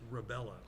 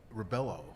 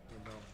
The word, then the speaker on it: Rebello: His last name is pronounced Rebello. Oh, I thought Rebello. Yeah, Okay. Rebello. I have been corrected.